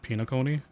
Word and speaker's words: Penacony: Okay, so at least in the JP audio it's pronounced Penacony.